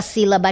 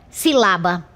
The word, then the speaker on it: sílaba: ou seja, que ela tem como sílaba tônica a antepenúltima sílaba. Vou te provar, veja. Sílaba. Se eu deslocar esta essa sílaba tônica para esta sílaba aqui, lá, como é que fica a pronúncia?